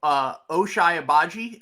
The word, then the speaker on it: Ochai Agbaji: So let's just do quick points on Ochai Agbaji. I believe that's how you pronounce his name.